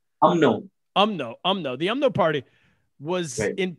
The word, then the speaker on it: UMNO: What about because that first the party that the UN, I know you UNMO, is that how you say it? UMNO.